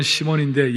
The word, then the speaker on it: 시몬: 이 시몬이라는 사람은 우리 한국식 발음이나 또 고대 근동 발음은 시몬인데 영어식 발음은 사이몬이라고 그러죠.